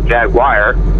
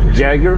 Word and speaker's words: Jaguar: British manufacturer Jager or what most people call Jag Wire it's the American pronunciation it and it's what is what is